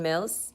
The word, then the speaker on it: Mills: my name is Mills rhymes with bills you know the one